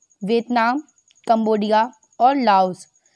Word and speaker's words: Laos: तो वो 3 कंट्रीज़ हैं वियतनाम, कंबोडिया और लाओस। इसमें लाओ बोला मैंने, जो एस था वो इसमें साइलेंट रहता है, इसलिए इसको लाओ पढ़ते हैं।